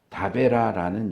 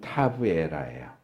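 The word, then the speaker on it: תבערה: 여기 타베라는 히브리 발음으로 하면 타브에라예요.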